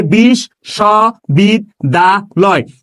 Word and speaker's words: বিশ্ববিদ্যালয়: লক্ষ্য করেন, আমি বললাম বিশ স বিদ দা লয়। আমরা এই বিশ্ববিদ্যালয় শব্দটাকে এইভাবে উচ্চারণ করি কিনা দেখেন তো, বিশ্ববিদ্যালয় এভাবে উচ্চারণ করি না?